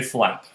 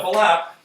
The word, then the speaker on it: flap: going to be a flap. Spelled F-L-A-P, but with 2 syllables, so flap.